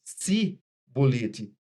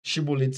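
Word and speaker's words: shibboleth: E eles, pela variação da língua, o dialeto, eles não conseguiam pronunciar shi, as consoantes C e H. Então eles pronunciavam o S, si bolete.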